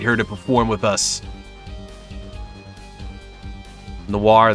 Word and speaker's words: noir: Noir, that, and Gardevoir are all the same sound at the end.